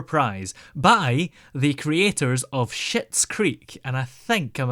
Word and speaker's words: Schitt's: by the creators of Schitt's Creek. And I think I'm allowed to say that word in this context. Yeah, because you pronounce that, you put the C in there.